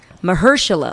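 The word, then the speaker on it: Mahershala: anyway um booger was notnot juice I can't pronounce his name right and I feel bad it's Mersa oh there we go I did it you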